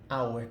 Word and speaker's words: hour: Mas se não tivermos uma palavra que tem um som vocálico, ele não pode ser a hour, tem que ser an hour. Hour, você pronuncia vogal.